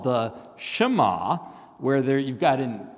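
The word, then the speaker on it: שמע: Uh it's pronounced Shema. Let's all say Shema.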